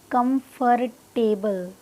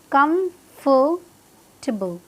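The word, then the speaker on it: comfortable: Word भी क्या है, इट्स नॉट कंफर्टेबल, क्या है exact pronunciation, कंफर्टेबल, कंफर्टेबल, कंफर्टेबल, कंफर्टेबल। आपको क्या करना है, 5 पर प्रोनाउंस करना है।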